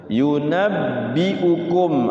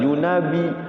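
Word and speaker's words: يُنَبِّئُكُمْ: Yunabbiukum. Awas hati-hati ada ba tasdid. Kalau ba tasyid pokoknya cara bacanya itu disukunkan dulu. Yunabbi yunabbiukum. Jangan yunabi. Yunabbi jadi sukunkan dulu. Yunabbiukum.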